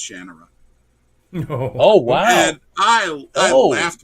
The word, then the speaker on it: Shannara: And he looked at me and just softly said, "It's actually pronounced Shannara."